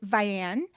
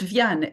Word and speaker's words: Vianne: that beautiful cover with Ven? Is that how you pronounce it? Actually, it's pronounced Van in French, but yeah, I guess you'll be either way.